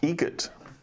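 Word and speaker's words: Eget: Egret. Spelt differently. Like the bird. That's Egret. Do you know what Adam Egret has in common with a guitar player? Adam Egret has in common with a guitar player.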